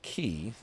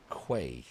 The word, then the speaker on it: Quay: peragine key perin key if it's pronounced key then why don't they just spell it that way every time I see that word I want to say Quay it looks like Quay